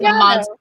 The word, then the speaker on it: Amontillado: No, Okay, it's Amontillado.